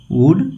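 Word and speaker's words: would: उसके बाद वुड लिखिएगा डब्ल्यू ओ यू एल डी वुड इसमें एल साइलेंट होता है।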